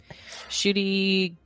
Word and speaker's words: Ncuti: you watch you didn't watch that oh okay shoy gatwa I don't know if I'm saying that's his actual name in real life yeah shoy well it's it's pronounced shy but it's spelled NC U TI I'm going